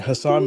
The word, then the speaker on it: Hasan: First of all, it's Hasan. You're mispronouncing it.